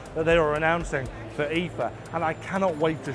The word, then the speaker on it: IFA: But the only problem is I've been saying IFA all wrong. It's not called IFA, it's called Ether.